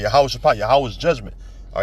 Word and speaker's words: Jehoshaphat: The Valley of Jehoshaphat, or Yehoshaphat, that's how you say it. All right, Yehoshaphat, Yahweh's judgment.